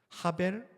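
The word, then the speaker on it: הבל: 자, 원래는 해인데이 해벨 뒤에 쉼표가 붙으면이 애 발음이 좀 더 길고 강한 발음 아로 바뀌기 때문에 본문을 보면 하벨이라고 나옵니다. 하벨 하발림 아마르코헬렛 하벨 하발림 하콜 하벨 이것이 히브리어 원문입니다.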